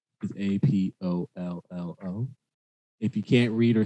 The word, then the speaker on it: Apollo: first let's get into introductions my name is a-p-o-l-l-o if you can't read or spell it's apollo king dudes i'll let y'all